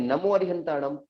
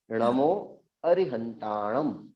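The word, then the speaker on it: णमो अरिहंताणं: हाँ, लेकिन कुछ जगह लोग पढ़ते हैं नमो अरिहंताड़म, वह सर्वथा गलत उच्चारण है।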